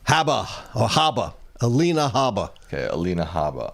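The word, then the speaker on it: Habba: Haba.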